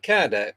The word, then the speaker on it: Kardec: Is it Kardec? Is that how you pronounce it?